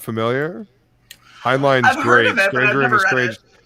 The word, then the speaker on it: Heinlein: Heinlein. It's the last part spelled the same as the first part. Heinlein. Heinlein. Timeline.